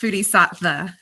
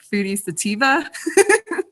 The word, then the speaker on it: Foodie Sattva: It's actually pronounced Foodie Sattva. I'm thinking of adding a little pronunciation bar because a lot of people are always like Foodie Sativa.